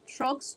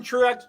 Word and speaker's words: Truex: how you pronounce that trucks truck Strokes oh Truex uh Martin Truex Jr Truex two syllables Truex okay what did